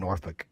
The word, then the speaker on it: Norfolk: The L is silent in Norfick.